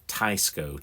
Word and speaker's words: Teisco: made by I think I'm saying it right tysco t i c s o tysco um it's